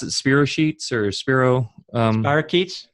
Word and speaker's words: spirochetes: a question on that so how do you pronounce it Spiros sheets or Spiro bark eats spirochetes okay thanks now where do these live are